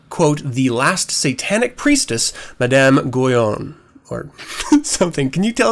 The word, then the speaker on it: Madame Guyon: the last Satanic priestess, Madame Guyon, or something. Can you tell us a little bit about that? Sure. Madame Guyon, as it would be pronounced in French.